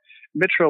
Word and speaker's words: Mytro: I've been pronouncing it Mytro in my head, but Mytro like myth, so that's how I pronounce it. But people are pronouncing it Mytro as well, and Mytro and a couple other things.